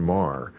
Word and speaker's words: Maher: namesake in the news Katherine Mah is her name I I think that's her how she pronounces it although I kind of wish she pronounced it differently uh and Andrew Sullivan